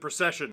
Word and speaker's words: Precision: And we have to start with a truly ridiculous one because the man's name is literally Precision. Although apparently he pronounces it Procession.